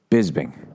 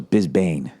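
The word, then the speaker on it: Bisping: I you know I realized when he won I've been saying his last name wrong forever UFC champ Manchester here we go what's his name Michael bisbing I wish that was bisbane Michael bisbane he [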